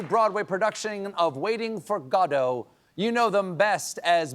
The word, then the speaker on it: Godot: Let's start with how some might be surprised that it's pronounced Godo instead of most people in America, they think of uh GDAU.